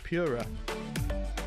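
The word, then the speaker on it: Pu+Ra: ra hpe Coupe concept an unfortunate name that is apparently pronounced simply as Pura Pura is short for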